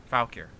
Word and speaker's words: Valkyr: It's Valkyr. Valkyr. Alright? Kind of like Valkyrie.